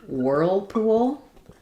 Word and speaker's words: whirlpool: for the world word whirlpool. Um challenging combination. This is a compound noun. So this main stress is going to be on whirl, but there'll still be some stress on pool.